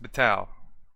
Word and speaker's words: Betaal: B tau B tau I think that's that's pronounced batao if not let me know in the comments below